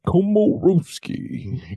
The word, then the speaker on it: Komoroski: Pronounced Komoroski. Karoski Komaroski. It's like Komaroski.